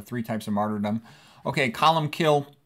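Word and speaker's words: Colm Cille: uh there's a three types of martyrdom okay column kill it's you know it's here's how it's spelled but Colin kills how it's pronounced he lived from about 540 to 614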